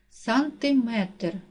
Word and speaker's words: сантиметр: падає на другий склад сантиметр наголос падає на третій склад роблю наголос падає на